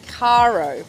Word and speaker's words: Caro: This is Nick Douglas for Adventures of a Sailor Girl on board Caro, is how we pronounce it, for everyone who's been wondering.